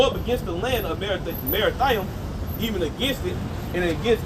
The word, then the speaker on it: Merathaim: Verse 21: Go up against the land of Merathaim. That's how you pronounce it in Hebrew as well.